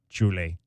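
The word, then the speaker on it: Šiauliai: Julie. That's where he's from in Lithuania. It's spelled Saulii.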